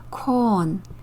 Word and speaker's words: corn: 정말 맛있는 옥수수 영어로는요 corn이라고 적습니다 c는 키읔 소리 나구요 5는 5 r은 리을에는 니은 그래서 옥수수는요 같이 읽어 볼게요 콘 콘 알바룸이 조금 신경 쓰이시죠 혀가 입천장에 닿으면 안 됩니다 콘 도시라는 우리말이에요 city로